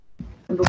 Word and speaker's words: numb: Now this week, boys and girls, all the spellings have got a silent B at the end.